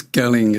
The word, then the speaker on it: Galling: today is now i'm never sure is it gelling or gelling it's galling it's a hard g that's a right so